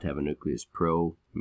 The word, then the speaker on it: pro: not have a nucleus pro rhymes with no so no nucleus here